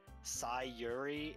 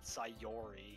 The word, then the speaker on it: Sayori: like it's ori but apparently you're supposed to pronounce it like yuri with a uri so it's sai yuri and then yuri i've all like for years i've said sayori because of the oh but apparently it's fury